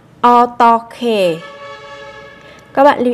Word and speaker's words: 어떻게: 어떻게 어떻게 Các bạn lưu ý các phát âm là chúng ta nối âm hờ kết hợp với âm g ở đằng sau sẽ đọc thành âm khờ.